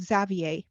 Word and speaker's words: Xavier: One day, next door to the Alvaros, 10-year-old Xavier, is that how you pronounce his name? Xavier or Xavier? Yeah, Xavier. Okay.